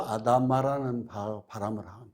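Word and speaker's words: אדמה: 흙이라는 말은 히브리어로 아다마라는 발음을 하는데요.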